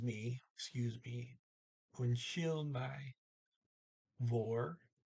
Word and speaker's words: Hvor: Vor, H is silent there.